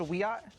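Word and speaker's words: Wiyot: Madison Flynn is a member of the Wyatt Tribal Council in California, and she joins us tonight. Madison, thanks for coming on. Hi, thank you for having me. It's pronounced Wyatt.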